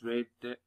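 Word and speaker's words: read: ولاحظ إن أنا نطقت هنا إيه؟ نطقتها ريد لأن هنا النطق بتاعها بيبقى شبه اللون الأحمر ريد، لأن هنا جاية في الماضي.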